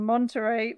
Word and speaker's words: Monterrey: At theatrical showings in I'm probably going to pronounce this wrong, Monterrey, Mexico.